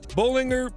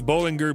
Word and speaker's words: Bollinger: Bollinger B2.